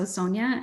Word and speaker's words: Sonja: My first name is Sonja. So I pronounce the O like a long O, so Sonja.